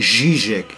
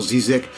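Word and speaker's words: Žižek: Havia um senhor qualquer, um filósofo esloveno, que dizia quando pronunciava o nome dele corretamente, porque a pronúncia é Zizek e não Zizek, eu pensava que eram da polícia secreta, porque ninguém sabia dele o nome.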